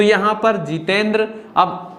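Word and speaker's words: Jitendra: तो यहां पर जितेंद्र, अब ना द्रा ये हमें लिखना है।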